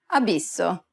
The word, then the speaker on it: abisso: Finally, whenever you have a double S, you need to say it with more emphasis. Pronounce it for longer than you typically would in English.